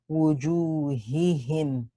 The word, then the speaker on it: وجوههم: You have 2 has here, so be careful when you pronounce them. Wujuhihim, wujuhihi, right?